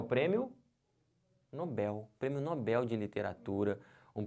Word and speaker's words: Nobel: isso aqui está errado o certo não é Nobel o certo é Nobel aqui ó como é